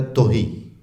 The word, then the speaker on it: تہی: ہوئے لفظ ہیں۔ البتہ فارسی میں اس کا تلفظ ہے توہی، تے پر پیش بولیں گے ہم۔ اردو میں چونکہ یہی رائج ہے تے پر زیر بولنا، تو ہم اردو میں تہی کہیں گے، ورنہ لوگ ہمیں